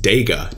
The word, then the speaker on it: DEGA: So just like DeFi for decentralized finance, I believe it's pronounced DEGA, D-E-G-A, decentralized gaming.